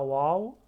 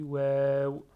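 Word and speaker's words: واو: On ne dit pas Waw, on dit Waw.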